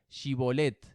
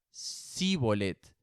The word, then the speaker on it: shibolet: Ellos le pedían que pronunciara la palabra shibolet. Si era de Efraín, diría síbolet, porque a la gente de Efraín le cuesta pronunciar bien esa palabra.